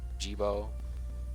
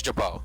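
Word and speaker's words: Gebo: I mean, it makes sense, you know, like Jiro, Jibo, you know, like it's spelled G-E-B-O. So you could say Jibo, I guess. Maybe it's Jabo.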